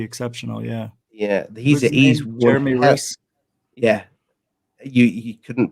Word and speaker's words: Rys: Yeah, he's Jeremy Riss. Yeah, you couldn't pronounce his name, but to be fair, I would have said his name like that. Spells it RYS. How's that Riss?